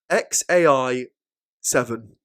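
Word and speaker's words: X Æ A-Xii: So one of the names of his kids is pronounced XAI the 7th. So that's the letter X, then A, then E, then A dash X11, the Roman numerals 7. So how's it pronounced, right? So I believe it pronounced XAI 7.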